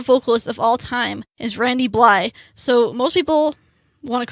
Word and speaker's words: Randy Blythe: is his name is Randy Bly because it's spelt Bly th e but it's randy blythe he only pronounced the first three letters he is a vocalist